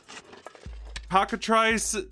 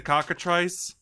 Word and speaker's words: cockatrice: oh there it goes again so is that pocket rice basically is that how you pronounce it boots Auggie now you pronounce it cockatrice ah so it basically looks like a basset